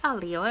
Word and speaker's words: aglio: it and they're like a Leo le ox they don't pronounce the G in the L so